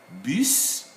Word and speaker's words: bis: we are presenting here some s at the end of french words are pronounceable dear friends here we have bis these are pronounceable we said it and